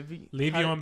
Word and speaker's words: Le'Veon: getting him checks is it Le'Veon Bell Le Le'Veon Bell that's how you say it is is